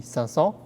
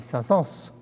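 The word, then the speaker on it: Saint-Saëns: sun sals saint-saens but the french argue because some say it's supposed to be sansa and some say it's supposed to be sons so you know who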